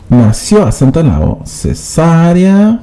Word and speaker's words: cesárea: se puede nació por cesárea nació lleva acento en la oe subnormal cesárea cesárea minas de casa